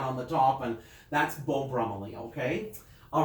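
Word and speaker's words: Beau Brummell: Your clothes may be Beau Brummely is how you say that. Beau Brummely.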